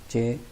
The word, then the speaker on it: j: तो स्टार्ट में आपने याद रखना है कि जे को प्रोनाउंस करते हैं चाइनीज़ में चे छोटी है ची, और क्यू को प्रोनाउंस करते हैं छे छोटी है छी, और एक्स को प्रोनाउंस करते हैं शीन छोटी है शी।